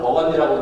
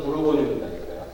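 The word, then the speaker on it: Bourgogne: 여기에 보르도, 여기에 이게 영어로는 버건디라고 그래서 영어 지도라서 이게 우리 이제 이 불어는 부르고뉴입니다.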